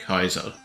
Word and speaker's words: Caesar: sakes Caesar is pronounced like Kaizo now to be fair I don't think that's an issue with like with English I think that's probably more of an issue with Latin because I don't